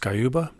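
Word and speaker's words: Sciubba: I was pretty disappointed to see in Jennifer, I think it's pronounced Skyuba.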